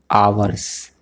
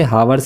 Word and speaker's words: hours: तो लगेगा फॉर 2 आवर्स, HOURS। आवर्स पढ़ते हैं इसे, हावर्स नहीं, एच इसमें साइलेंट रहता है।